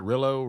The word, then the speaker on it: Rilo: Rilo? Rilo.